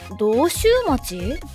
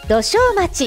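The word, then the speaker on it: 土生町: 大阪市の道州町？これは土生町って読みます。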